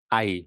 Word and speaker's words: Ai: Ya, perhatikan di sini bahwa ee Israel dikalahkan oleh ee AI ya, jangan Ei bacanya ya. Israel dikalahkan oleh A.